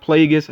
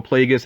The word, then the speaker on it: Plagueis: One is Darth Plagueis, I believe is how you say the name. I always like Star Wars names when it's obvious where the name comes from, Plagueis as in plague, basically.